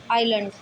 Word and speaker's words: island: जैसे ISLAND, आइलैंड। यहाँ एस किसके बीच में, आई और एल के बीच में, इसलिए इसको एस को नहीं पढ़ा जाएगा, साइलेंट रहेगा।